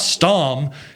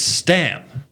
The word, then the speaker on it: Stam: I say, it's not Stom, it's Stam.